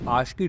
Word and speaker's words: ASCII: एक टेबल होता है जिसको हम बोलते हैं आशकी टेबल इसकी स्पेलिंग जो होती है वो होती है ए एस सी आई आई टेव मैं आपको बताता